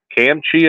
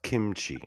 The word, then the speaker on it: kimchi: weird recipe for a camchi I think he called it uh sir it's pronounced kimchi just oh kimchi yes